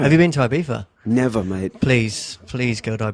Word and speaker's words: Ibiza: And you lived in, how do you say it, Ibiza? Yeah, Ibiza. Depends if you're Spanish or English.